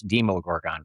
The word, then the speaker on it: Demogorgon: over, the Demogorgon, you could say then they mispronounced that. It's Demogorgon, by the way.